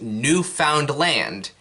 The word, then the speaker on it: Newfoundland: of the people in newfoundland which is spelled like this it's not pronounced new found land it's pronounced newfoundland fight me actually no